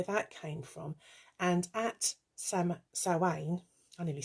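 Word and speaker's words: Samhain: that's that's where that came from and at sam sawain i nearly said somehow they want a donut um at sowein this is when the veil is thin the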